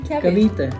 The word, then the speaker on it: Cavite: Cavite.